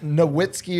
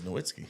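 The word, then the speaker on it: Nowitzki: It was Noitzky. Waggler. It's the German V. The W. German W is a V is how we pronounce a Vitzki.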